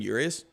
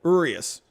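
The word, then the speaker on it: Urías: heard yurius at one point i guess it's urius right have i been saying yurious oops i thought it was yurious i swear i've heard it pronounced that way urius julio urius yeah thomas marshall i feel like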